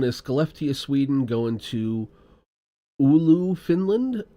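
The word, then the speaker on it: Oulu: This one is Scopia, Sweden going to Ulu, Finland. U LU. Did I get that even close to right, Miles? You got it pretty close. Olu is indeed how you say it.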